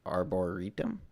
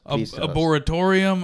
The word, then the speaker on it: arboretum: Arboretum? Yeah. Yeah. I've seen it. Arboretum. I'm just... How do you think it was? Tell us. Arboretorium. Arboretorium. There was no atorium in there.